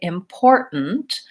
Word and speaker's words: important: the middle important but Americans will typically say important where they will stop that T and so